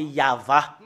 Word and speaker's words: Yahvah: prononcer le téragramme y c'est ça qu'on le prononce c'est yava parce que nous voyons déjà et voilà c'est ya la première partie voilà voilà c'est ya et l'autre partie c'est va et cette partie là